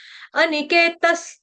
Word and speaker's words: अनिकेतस: ठीक है, अनिकेतस, अनिकेत लड़कों का नाम होता है, अनिकेत सिंपल है, अनिकेत। विसर्ग का उच्चारण करेंगे हलंत स के साथ।